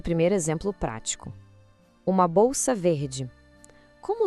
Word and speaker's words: vert: Uma bolsa verde. Como o saque, que a bolsa é masculino, a gente diz ver. Ouve com atenção o final. Ver. O T fique em silêncio.